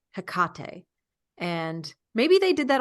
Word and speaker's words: Hecate: goddess Hecate or Hecate they say hectate instead of Hecate and maybe they did